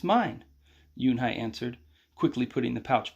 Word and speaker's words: Unhei: No, it's mine, Yunhai answered, quickly putting the pouch back in her pocket. Are you new here? What's your name? A girl asked. Yunhai, said Yunhai. Uni?